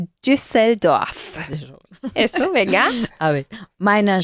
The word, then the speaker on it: Düsseldorf: Sí, en alemán se pronuncia Düsseldorf.